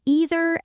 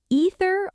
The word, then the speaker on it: either: how do you say either and neither either or either neither or neither and the answer is both are completely correct both pronunciations are standard English neither form is wrong